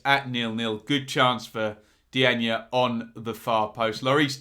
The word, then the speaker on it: Diagne: Diagne, I'm told, is how it's said. Up top here are the goals. But first, I just wanted to show you this at 0-0. Good chance for Diagne on the far post.